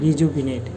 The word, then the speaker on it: rejuvenate: এক নাম্বার শব্দ রিজিউবিনেট বাংলা উচ্চারণটা এভাবে হবে রিজুবিনেট এর বাংলা অর্থ হচ্ছে